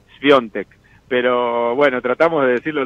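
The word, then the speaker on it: Świątek: manera originalmente de otra dicho por ella misma su apellido es piontek pero bueno Tratamos de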